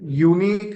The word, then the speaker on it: unique: The pronunciation unique is why right? Unique is the pronunciation starts with Y.